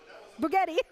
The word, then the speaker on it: Bugatti: That makes Bugatti. It rhymes with spaghetti.